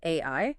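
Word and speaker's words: 愛: In Japanese, the word for love is pronounced AI.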